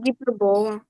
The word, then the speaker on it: гіпербола: Це гіпербола. Гіпербола - це назва грабола, да? наголос на гіпербола, не е.